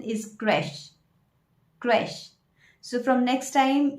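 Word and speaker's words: crèche: again is a very confusing word because the pronunciation does not go with the spelling. People call it creche or creche, a place where we keep our babies for daycare. But the correct pronunciation is creche.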